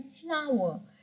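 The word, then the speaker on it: flour: आटे को इंग्लिश में कहते हैं फ्लावर। देखिए, फूल को भी फ्लावर कहते हैं एंड आटे को भी फ्लावर कहते हैं।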